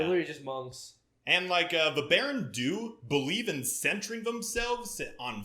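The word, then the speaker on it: Baran Do: And the Berendu, there's a lot of different pronunciations. I've heard a lot of people call them Berendu. I just call them Berendu because it's spelled D-O instead of D-O-E.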